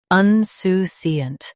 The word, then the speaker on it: insouciant: Un-su-siant. Both US and UK have the same pronunciation of this word. Stress su. Keep un soft. And finish with siant clearly.